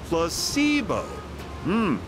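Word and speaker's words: placebo: today repeat after me placeo H the stress is on the middle syllable PLO very good you're feigning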